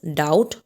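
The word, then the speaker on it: doubt: Then the next word is डाउट. Again B is followed by अ टी, सो वी डोंट pronounce B over here.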